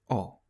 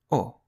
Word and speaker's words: ho: In Italian, the word for I have is O. O. You don't pronounce the letter H in Italian.